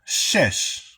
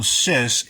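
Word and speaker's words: שש: letter was evolving that is pronounced shesh which is the exact same thing as this right here. So shesh and it means six.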